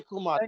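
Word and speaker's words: Kemet: you know desert Kum we say kumat we don't say k say k yeah so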